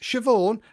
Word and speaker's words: Siobhan: You say that Siobhan, and then it begins with Sayaban.